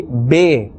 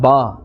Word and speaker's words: ب: Some people, maybe they have learnt incorrectly or misunderstood. They say be instead of ba, te instead of ta, the instead of tha, he instead of ha, khe instead of kha.